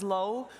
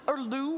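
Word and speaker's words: Lou: lot of people across is Low, or Lu, which sometimes you also will hear that, but his official pronunciation is supposed to be Low.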